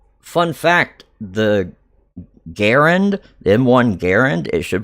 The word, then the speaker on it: Garand: People are mispronouncing it. It's not Garand. It's Garand."